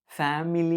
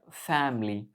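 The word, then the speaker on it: family: ഫാമിലി okay with my ഫാമിലി എന്ന് എടുത്തു പറയേണ്ട നമ്മൾ ഇതൊരു ഒരുമിച്ചാണ് പറയുക ഫാമിലി ഫാമിലി ഉച്ചാരണം ശ്രദ്ധിക്കുക ഫാമിലി ഫാമിലി ഇവിടെ ഐ ഒരുതരം സൈലൻറ് ആയിരിക്കും ഓക്കേ അവിടെ ഐ പറയേണ്ടത് നമ്മൾ ഫാമിലി എന്നാണ് പറയുക സോ എങ്ങനെയാണ് ഐ എയ്റ്റ് ഓക്കേ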